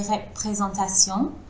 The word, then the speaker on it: représentation: Si elle paraît uniforme sur les représentations, cette couche... Alors, les représentations. Le premier E, il est fermé.